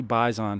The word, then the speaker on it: Baizan: Eric, a friend of mine, Jordy Bison, who you might have heard me talk about or even seen on a stream, his last name is spelled Baizan.